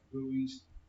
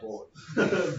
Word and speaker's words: buoys: Yeah, basically it's a raft, and they put all the pupae and larvae as like buoys, But that's how you say it, by the way. It's Buoys. buoys, not boys.